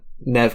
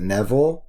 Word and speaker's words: Neve: again, Courtney Cox and Neve Campbell. Sorry, Neve is a hard name for me to remember. Neve is that's my excuse. Name. Is it Neville? Yeah. No, it's Neve.